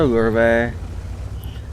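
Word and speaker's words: Löwe: And yes, I understand it's pronounced a lurve. I don't care. It's a low. It will always be a low.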